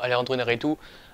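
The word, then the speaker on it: Iñárritu: c'est un monstre visuel alandro Narou je crois qu'il s'appelle comme ça qui se prononce comme ça plutôt alandroaritou a fait un boulot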